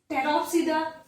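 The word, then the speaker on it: Pteropsida: टेरिडोफाइटा के अंदर P silent होता है, that's why टेरिडोफाइटा, टेरोप्सिडा, P silent होता है।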